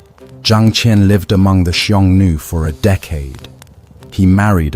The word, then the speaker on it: Xiongnu: Convince them to form a military alliance against a mutual enemy, the Xiongnu, pronounced Xiongnu, the fierce nomadic confederation that had been raiding China's northern borders for generations.